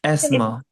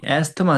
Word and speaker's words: Asthma: इट्स एस्मा। एस्मा Asthma. नहीं, एस्थमा नहीं, एस्मा।